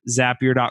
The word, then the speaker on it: Zapier: get there they're like is that really how you say it if you look down on the bottom it used to be on the bottom left-hand side it says zapier makes you happier they're actually telling you